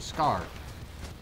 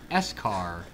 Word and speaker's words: SCAR: uh he pronounced it the s car i said it's the scar not the s car and we just argue